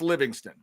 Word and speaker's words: Livingstone: Parker Livingston, even though it's spelled Stone. Is that how we're going? Because every time I see his name, I think Stone, but it's pronounced Livingston.